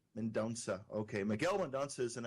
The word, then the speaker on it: Mendonca: guest is Miguel menot Mena how do you pronounce that Miguel it's mendonsa mendonsa okay Miguel mandans is an Angelo aoran writer